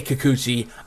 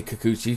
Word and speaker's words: Kikuchi: mariners at the athletics you say kikuchi i say kakuchi because that's how you pronounce it up against frankie mantis